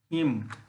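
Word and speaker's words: hymn: जैसे autumn, हिम, column, column, ये सब वर्ड ऐसे हैं कि जिसमें एन का उच्चारण नहीं करते हैं।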